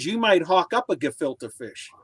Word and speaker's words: gefilte: yeah all right man i felt gefilte man why are they saying gafilta it's just the way it's pronounced yeah yeah oh hold